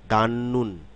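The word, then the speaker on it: 닫는: ঠিক তেমনিভাবে দাঁত নুন, আসলে দাঁত নুন না, শব্দে যখন উচ্চারিত হবে এই সিলেবলগুলো দিয়ে যখন শব্দ তৈরি হবে তখন এর উচ্চারণটি হবে দান নুন।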